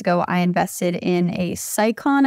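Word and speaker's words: Scicon: But a few years ago, I invested in a Sicon, I think is how you say the name of this brand, S-C-I-C-O-N, bike bag for travel.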